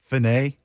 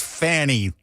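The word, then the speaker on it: Fani: there have you seen where they're trying to pronounce their name differently now finay it was I it was funny it was funny it's Fanny stop trying to pretend it's not oh no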